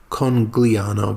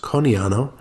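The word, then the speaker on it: Conegliano: it's spelled c-o-n-e-g-l-i-a-n-o it's it looks like it's congliano but it's pronounced coniano and we are surrounded by the Prosecco Hills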